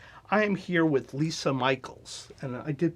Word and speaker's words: Micheels: Tracy Meisner and I am here with Lisa Michaels and I did pronounce that correctly all right from Brown creative